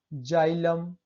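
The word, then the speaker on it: xylem: Rule 4 है, जब किसी शब्द के शुरू में एक्स हो और उसके बाद ए ई आई वाई आए तो एक्स का उच्चारण ज से करते हैं। जैसे जेंथिक, देखिए एक्स है और ए ई वाई आए उसके बाद एक्स के बाद, तब क्या पढ़ें, उसे ज से पढ़ते हैं। जेंथिक, जाइलम, जेरोक्स, देखिए यहाँ पे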